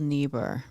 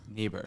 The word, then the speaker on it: Niebuhr: to pronounce it correctly i believe it's reinhold niebuhr neighbor yes okay reinhold niebuhr says evil